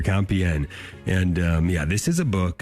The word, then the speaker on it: Compiègne: Jim Havens here, talking with author Jonathan Michael O'Brien today, and his book called to Compiègne, getting the pronunciation right here, Compiègne.